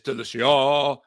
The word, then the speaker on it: Delicia: We have Delicia in the studio with us today. Yeah. Well, actually, it's Delicia because it's a strong A at the end.